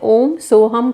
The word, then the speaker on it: सोहम: आप जानते भी हैं सोहम लेकिन इसे ओम सो हम करके प्रोनाउंस करेंगे अपने ब्रेथ पे ध्यान